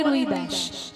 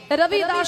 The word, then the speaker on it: রবিদাস: নাম নয় তার নাম হচ্ছে রবিদাস বাঙালিরা বলে রুইদাস তার নাম হচ্ছে রবিদাস তা দেখবেন হিন্দিতে বটা একটু উচ্চারণ হয় রবিদাস রবিদাস রবিদাস তার থেকে হচ্ছে রবিদাস আবার বাঙালিরা